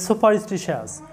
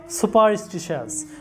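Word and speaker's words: superstitious: ও ইউ এস সাস তোমরা জানো যে টি আই প্লাস ও থাকলে টি এর উচ্চারণটা হয় স এর মত তালব্য স এর মত আর তোমরা জানো যে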